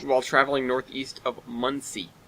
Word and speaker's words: Muncie: traveling north east of Muncie or Munchie if you want to pronounce it like that like lungi please come forty-nine rail